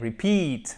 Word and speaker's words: repeat: Répéter, ce n'est pas repeat, c'est pas repeat, mais repeat, ok? Mais en fait, on a un schéma qui est très très proche ici. On a nos deux syllabes avec une seconde syllabe qui va être celle qui est accentuée, d'accord?